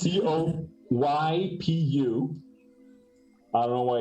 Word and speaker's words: coypu: So, you see this small Coipo. It's called coipo in Spanish. In English, it's called coipu. I'm not exaggerating. It's Coypu.